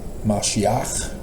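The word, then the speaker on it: משיח: latterday saints and so Messiah Ben Joseph in Hebrew pronounced as mashiach which is different than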